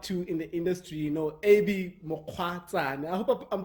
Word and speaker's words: Mokgwatsane: I look up to in the industry, Abey Mokgwatsane. I hope I'm pronouncing your surname correctly.